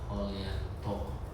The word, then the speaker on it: Hojianto: Oke, setelah kita ngobrol-ngobrol seperti pesannya tadi Coach Ongki Hojianto, tapi bacanya adalah Holyanto seperti itu.